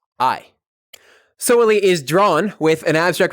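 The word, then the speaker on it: soweli: be in a big collection here we have soili s o w e l i solely is drawn with an abstract representation of an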